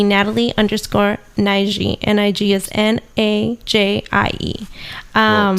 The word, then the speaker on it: Nige: Nige is Najie. Well, spell out your name too, because a lot of people spell it.